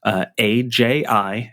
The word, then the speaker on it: Aji: It's AJI, and you say it like Aji.